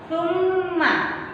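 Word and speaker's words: ثمّ: Nah, mimnya ada tanda tasdidnya, jadi agak dibaca lama. Summa.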